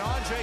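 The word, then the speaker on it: Anže: And it's pronounced more like Anze.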